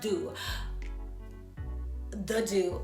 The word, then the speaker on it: The Doux: be using is the it's pronounced do the do okay so these are